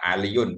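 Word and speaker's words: عليٌّ: Ya, Aliyun bukan ala ya.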